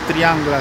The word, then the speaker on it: Triangle: Este es el Triangle. Al Triangle se pronuncia en catalán.